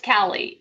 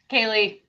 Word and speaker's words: Kalie: And so now in my brain, I go, is it Callie, Kalie, Callie, Kaylee? It's Callie. And then I always inadvertently always say it wrong. So Kaylee, just no.